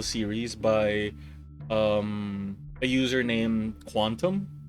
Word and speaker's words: QNTM: by a user named Quantum. It's spelled QNTM, but you know Quantum.